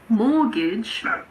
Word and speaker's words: mortgage: Some of the most common ones are asthma. There's a silent H in there as well. It's asthma. Christmas, mortgage, and soften.